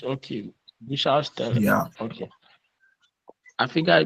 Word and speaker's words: Bushaltestelle: Bushaltestelle. Yeah. Okay. I think I'll be So, there. Ima, come again. Here. Pronounce this word. Bushaltestelle. Donald Trump. Donald Trump. Right. And Bush. It's Bus. Hier Bus. Haltestelle.